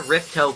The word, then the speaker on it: Ripto: spell Spyro's name like R-I-P-T-O. It's somewhat It's actually pronounced Ripto, but it's technically, this is how they got the name for the villain in the sequel, Ripto's Rage.